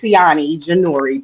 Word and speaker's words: Ceione Jenore: you say her name it is canani janor but everybody call me pronouns is her her